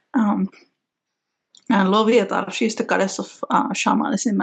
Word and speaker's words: Loviatar: Mielikki and Loviatar, the pronunciations.